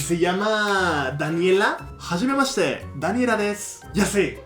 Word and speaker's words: desu: No es desu, des. El des es una palabra que pones al final de la frase para agregarle respeto. O sea, si es un desconocido o una persona mayor que tú, agregas respeto con des.